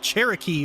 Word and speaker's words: Cherokee: You thought Cherokee rhymed with karaoke.